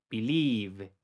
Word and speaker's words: believe: Believe. ¿Te diste cuenta, verdad? Esta I es mucho más cortita que la que viene en la segunda sílaba.